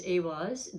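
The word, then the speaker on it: Eihwaz: So the pronunciation is Awaz.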